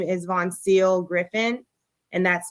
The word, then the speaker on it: Voncille: punched her live-in girlfriend, and her name is Von Seal Griffin, and that's spelled VONCILLE.